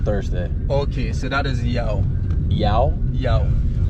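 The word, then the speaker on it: Yaw: Okay, so that is Yao. Yao? Yao. How do you spell that? Y-A-W. Oh, okay. Y-A-W, like Yahweh.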